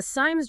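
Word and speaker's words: SIEM: And it's pronounced SIM.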